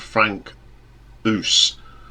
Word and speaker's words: Frank Oos: Now this is a project by a German musician called Frank Oos, which is spelled us, so like us, and it's an inspired band of passing some of the great musicians from the 70s prog scene.